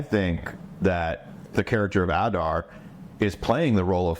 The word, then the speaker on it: Adar: Adar is surprising me.